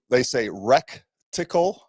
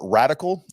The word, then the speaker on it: reticle: It's so silly, but they say reticle. They spell it REC, like TIL or something weird, or radical, RADICAL. It's reticle, RETICILE, or LE. So, anyways, it's reticle, not rectical.